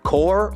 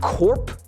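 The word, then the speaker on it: corps: leader of the core which is pronounced core I.E a military unit and connects directly to the God of War line that precedes it but I pronounced it Corp as in like Corporation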